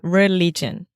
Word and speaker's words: religion: Religion. So the first time I heard religion, but this is the I sound. So the same sound as is.